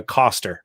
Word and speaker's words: Koster: fire by julia foster oh julia koster sorry julia uh it rhymes with foster it says in my notes so the war of